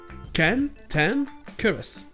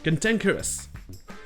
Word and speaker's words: cantankerous: Mais bizarrement, ici, la première syllabe se prononce comme si elle était accentuée, avec le son A. Donc ça fait que les deux premières syllabes ont le son A, et les deux dernières ont le son E.